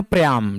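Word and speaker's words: Priam: Old king प्रियाम, ठीक है, प्रियाम पढ़ सकते हो, प्रियम पढ़ सकते हो, इसका प्रोनाउंसिएशन अलग अलग है।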